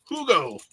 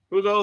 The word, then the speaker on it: Hugo: All right, next up, OG Hugo. And I wasn't pronouncing the H, but he says that's how his name is. I'm used to Spanish where H is not.